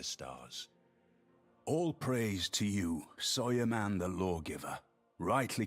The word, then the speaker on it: Suleiman: Okay, so he pronounced Suleiman as Soyerman, so I'll try and remember that. I will probably call him Suleiman quite a lot, so we shall see.